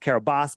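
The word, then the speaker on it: Kiribati: It's pronounced Carabas, but I don't care.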